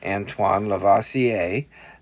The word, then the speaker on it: Antoine Lavoisier: and basically it says this with apologies to Antoine Lavoisier that is how you pronounce his name that matter can neither be